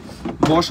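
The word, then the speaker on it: Bosch: বস, এটা কিন্তু বস না, উচ্চারণটা হবে বস, ব তালিবস্য, বস।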